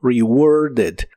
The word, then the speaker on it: rewarded: termina con e d en este caso sí se pronuncia esta e también y suena como rewarded rewarded y la puedes